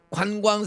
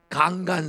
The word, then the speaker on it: 관광: 따라서 강간 산업을. 이 경상도 사람은 관자를 발음을 못해. 따라서 강간 산업을. 그러면 애들이 그냥 경기도에도 까르르 웃는 거야. 그래서 제가 그걸 연습을 시켜. 강간이 아니고 관광.